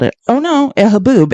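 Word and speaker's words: haboob: Is that how you spell haboo? Thank you. Someone's correcting. Yeah. H A B U B. I should have looked that up before I just incorrectly spelled it. Oh, no. Haboo.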